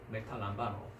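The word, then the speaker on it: μεταλαμβάνω: 자, 그 다음에 3335번을 한번 발음해 볼까요? 메타란바. 네, 그렇습니다. 메타람바노.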